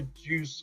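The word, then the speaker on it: Jew's harp: I did have a juice harp for a little while. Yeah, and to correct you there, Chrissy, it's juice, not Jews.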